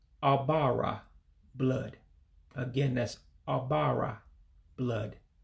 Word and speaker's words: Ọbara: Blood, the life of it all, would be pronounced as Ọbara. Ọbara, blood.